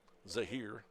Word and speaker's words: Zahir: Miller takes strike one Zahir spells his name Za a h iir and then Miller Zahir is how he wants it pronounced here's one high drive